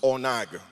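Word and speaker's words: ענג: The word translated as delight is a Hebrew word, and it's pronounced onag.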